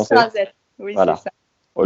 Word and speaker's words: Esch-sur-Alzette: Je l'ai bien prononcé ? Esch-sur-Alzette, oui, voilà.